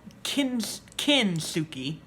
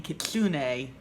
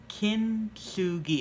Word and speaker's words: Kintsugi: One thing is that this is actually called Kintsugi. I was thinking Kitsune, which is a fox spirit, but Kintsugi.